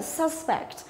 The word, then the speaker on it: suspect: Thế còn nếu mà là danh từ là kẻ tình nghi á, thì chúng ta sẽ đọc là âm thứ nhất là suspect. Nhưng ở đây ý, cái đề ở đây cô cho là động từ thì chúng ta phải đọc nhấn vào âm thứ hai là suspect.